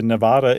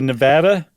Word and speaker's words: Nevada: There was he had been given an honorary name by the Nevada Intertribal. Did I say it right? Nevada? Nope. By the Nevada Intertribal Council.